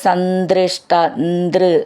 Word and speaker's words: സന്ദൃഷ്ട: ഞ ചന്നാണ് പഞ്ച എന്നുള്ളത് സന്ദൃഷ്ട നാരദ സംദൃഷ്ട അങ്ങനെ പിരിച്ചെഴുതുമ്പോൾ അങ്ങനെ വരും സംദൃഷ്ട അത് ചേർത്തിട്ട് എഴുതുമ്പോൾ സന്ദൃഷ്ട എന്നാവും നദ എന്നുള്ളത് എന്ന് സന്ദൃഷ്ട നാരദ നിവേദിത മന്ത്രമാർഗ്ഗ അവിടെ